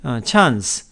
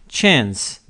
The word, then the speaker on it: chance: 기회라고 되어있구요 전 물론 미국 발음이 이제 최은 쓰라고 발음을 하고요 영국 빠름은 찬스 라고 발음합니다 우리말로 도 그냥 찬스 라고 얘기를 하는데 영국식 발음 에서 따 온 거겠죠 최 s 미국 빠른 챈스 미국 발음 찬스 찬